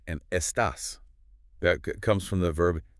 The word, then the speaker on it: estás: Foundational phrase number one, estas, which means how are you? Listen to that pronunciation again.